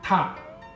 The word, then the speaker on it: 踏: 可以知道这个字的发音就是我们讲的点点塔塔的塔，是不是很简单？